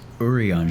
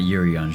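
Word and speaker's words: Urianger: himself with worry oh it's urian not yurian whoopsie oopes they don't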